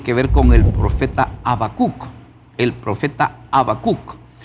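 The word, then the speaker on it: Habacuc: ver con el profeta Abacuk. El profeta Abacuk. Y el nombre de Abacuk en el hebreo se pronuncia Habacuk.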